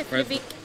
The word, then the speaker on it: Keflavik: What, Keflavik? There you go. Keflavik.